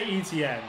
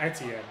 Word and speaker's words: Etienne: Like, they say ETN, right? 26 yards. And that is probably how you say it. But we had pronounced that Etienne.